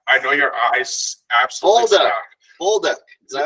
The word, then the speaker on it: Bolduc: But I know your eyes absolutely Bolduc. Is that how you say it? That is correct. Perfect. All right, we got Kaitlyn Bolduc here. Bolduc, right?